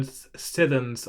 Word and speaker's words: sithens: There's a case of a word sithens, I think, with a two-syllable version of since.